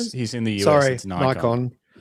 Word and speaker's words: Nikon: that I've been given, tell me how do you pronounce Nickon? He says Nikon. It's Nippon. Nippon is is Japan and that is the way you pronounce it.